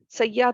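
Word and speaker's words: سیّاح: ये के ऊपर तस्दीक लगी हुई होती है, जिससे इसलिए हम ये को डबल साउंड में पढ़ते हैं सയ്याह।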